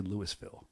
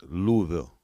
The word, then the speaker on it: Louisville: I don't say Lewisville. Say Louisville. It's Louisville.